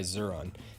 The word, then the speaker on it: Xuron: Second place for me is this orange-handled pair of cutters made by Xuron, and that's spelled X-U-R-O-N.